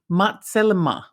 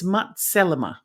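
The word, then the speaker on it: מצלמה: that is the word matelma. Sorry about my pronunciation. Sorry if I've butchered it, but you know I'm good at that. It's matzelma. But the meaning of the word matzelma is literally camera.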